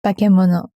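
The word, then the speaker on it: 化け物: And then, okay, the word bakemono, is that just, can I get a genuine pronunciation of that? Yeah, go for it. Bakemono.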